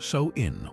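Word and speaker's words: Samhain: Sam Han pronounced, "So in wasn't just a festival.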